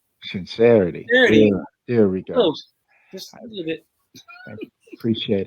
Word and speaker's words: Sinc3rity: good how are you doing good am i pronouncing your name right serenity yes sincerity sincerity there we go i appreciate it you know